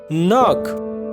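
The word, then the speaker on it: knock: नॉक, खटखटाना, यहाँ पर भी के जो है ये साइलेंट है, यानी साख्त हुरूफ है।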